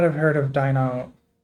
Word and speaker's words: Deinonychus: I'm gonna pronounce it Dianoni. It's funnier. Yes, you may not have heard of Deinonychus. Deinonychus.